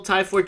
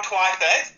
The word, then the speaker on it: Twyford: Is Phil Tyford doing a good job there for you guys? I love it how you pronounce that. Phil Twyford.